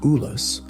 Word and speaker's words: Ulus: had conquered into independent, hereditary principalities, known as Ulus, pronounced Ulus, to be ruled by his remaining sons.